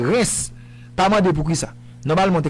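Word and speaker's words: Reims: c'est stade de R c'est R E I M S mais c'est pas REMs c'est stade de re phonétiquement c'est reince pas pour ça normalement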